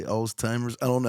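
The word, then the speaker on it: Alzheimer's: yeah did I say alltimers I don't know how you pronounce it that's what we call it alltimers but I think it's all heimr or some people say oldtimers which is really funny old timers cuz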